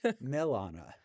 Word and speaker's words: Milana: can't get into wrong Milana oh like the city Milan but sometimes people are